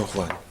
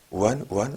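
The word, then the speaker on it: Juan: 후안. 왜냐면 스페인 쪽에서는 G 발음을 우리 프랑스어의 R 발음처럼 하잖아요. 그래서 후안이 되는 거죠.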